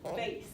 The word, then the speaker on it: bass: It's not bass. Are you a fisherman? This is actually, it's spelled exactly like bass, but it is pronounced bass.